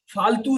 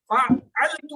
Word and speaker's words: فعلت: فعلتو ہوں، میں فعلتو ہوں، میں نے کیا. تو یہ عین کا تلفظ جو ہے وہ نہیں بھولنا، فالتو کہہ کے جو ہے وہ اس کو فالتو مت کر دینا.